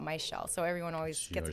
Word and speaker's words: Mizziel: So I have two Z's in my name, but it's pronounced like SH. So whenever I introduce myself, I say, oh, it's your shell, not my shell.